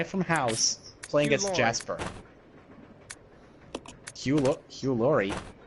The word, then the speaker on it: Hugh Laurie: certainly did not expect Hugh Larry, the guy from House, playing as Jasper. Hugh Laurie? Yeah, that's how you pronounce his name. Oh, I thought it was Hugh Larry.